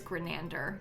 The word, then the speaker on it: Grenander: But it's like said exactly as it's written.